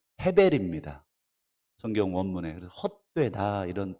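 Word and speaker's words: הֶבֶל: 아벨이라고 발음되어 있지만 실제로는 헤벨입니다.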